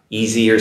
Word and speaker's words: easier: The easy S comes across as a Z pronunciation for the most part.